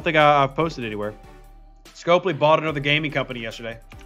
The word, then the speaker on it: Scopely: you sure it's pronounced scopoly i'm pronouncing it how an american would pronounce it scopely so scope because the o p and the e and then the lee at the end that's how they've pronounced